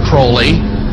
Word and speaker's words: Crowley: likes to bring have his name pronounced crowley to rhyme with holy and the satanist today